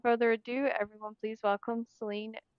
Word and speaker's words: Salinee: Ado everyone please welcome Seline goldenbear did I get that right it's salony or S whichever is easy yeah I always figure